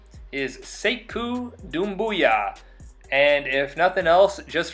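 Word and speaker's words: Sekou Doumbouya: you should have no excuse on how to pronounce his name. I'll say it again. It is Sayku Doombooyah.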